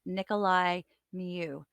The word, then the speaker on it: Nicolae Miu: Tubing tragedy trial for Nicholas Nikolai I keep mispronouncing his name Nikolai mu this is the testimony